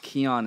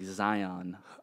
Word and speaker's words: Xian: it's Xin Bell so why is it pronounced kyon instead of like Zion so that's the way